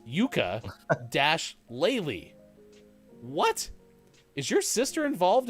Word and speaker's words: Yooka-Laylee: laylee oh my gosh i thought that when sports that game was reading this earlier that it was spelled the same as the instrument it's not it's yuka dash laylee what is your sister